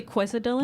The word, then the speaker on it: quesadilla: It's actually quesadilla. No, we pronounce our L's around here.